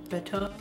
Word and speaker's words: betta: all the steps of betetta fish care and how to set up a betetta fish tank. So, let's get started on betetta fish care. I can already see a comment going, "It's pronounced beta."